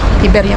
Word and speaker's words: Iberia: Iberia o Iberia? Iberia kasi ang bigkas sa Spanish.